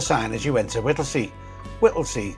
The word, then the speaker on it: Whittlesey: Whittley, spelled with S E Y at the end. However, if you were to arrive at the train station of Whittley, you might think that it's spelled differently.